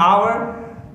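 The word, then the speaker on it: hour: एच ओ यू आर, H silent है, pronunciation उसका sound निकलता है आवर।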